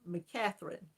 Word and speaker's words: McCatherine: pronounce my last name it's mccatherine it's a mac mc and it sounds like in front of the woman's name catherine there's been some variations